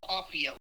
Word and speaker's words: Cauffiel: Christine, how would you pronounce his last name? Yeah, I think you're saying it right. It's Lowell Cauffiel.